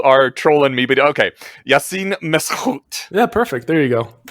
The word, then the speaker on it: Yassine Meskhout: I was going to ask you to pronounce it for us because you are trolling me, but okay. Yassine Meskhout.